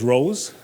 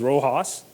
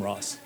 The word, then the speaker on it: RoHS: the second second acronym some people like to call it refer to it as rose my personal favorite is Rojas but we definitely need to stay away from Ross so since its introduction